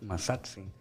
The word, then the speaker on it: Mazatzin: You know, every word, all the words are, they take the accent sound and the second to the last syllable. Like Mexica, Azteca, Mazatzin, Tenochtitlan, Totatzin.